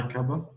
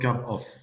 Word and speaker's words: cuppa: Do you want a cuppa? Cuppa, not cup of. Okay. So of is pronounced as an A.